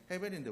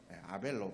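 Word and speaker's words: הֶבֶל: 헤벨이란 원래 이름은 헤벨입니다. 헤벨. 헤벨인데 우리나라에서 아벨로 막 희 발음 안 하잖아요.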